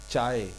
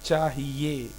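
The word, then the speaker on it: چاہیے: से मुझे मुझे चाहिए नॉट चाय इट्स चाहिए चाहिए चाहिए चाहिए चाहिए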